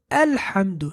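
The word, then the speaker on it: الحمد: Alhamdu, now we pronounced a vowel on top of the hamzatul wasl. And this vowel happens to be a fatha.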